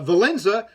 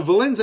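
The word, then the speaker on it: Wałęsa: uh and uh valenza whose name is spelt really weird by the way it's spelt w-a-l-e-s-a which i don't know where they get the n sound i understand that the w makes a v sound in that country but i don't understand where you get a an n sound for valenza um similar to and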